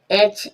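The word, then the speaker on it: edge: एज, एज means किनारा, एज, एज means किनारा। यहाँ पर भी डी के बाद जब जी होगा डी को साइलेंट रखा जाएगा, डी का साउंड नहीं आएगा।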